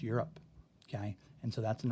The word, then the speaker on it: Europe: make the vowel long but Europe it's not your rope it's you're up okay and so that's